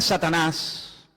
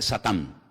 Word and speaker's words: Satán: La palabra Satanás, que significa adversario, es un nombre que viene del hebreo. En hebreo no se dice Satanás, se dice Satán, y significa adversario.